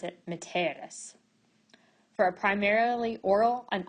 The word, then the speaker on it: mitteris: The E in the second person singular future passive is long, and we pronounce it miteris. However, it's short in the present passive, and we pronounce it miteris.